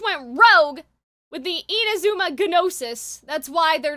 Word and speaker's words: Gnosis: Did I pronounce the G? Yeah, I did. It's a running joke. We're just kidding, guys. I know it's the Gnosis. We call it the Gnosis.